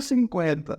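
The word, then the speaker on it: fifty: O 50 a gente vai pronunciar normal. Até porque se eu fosse ignorar o T, ia ficar como 50. Né? Ia ficar um pouco estranho. Então aqui o T ele é pronunciado assim, ficando 50.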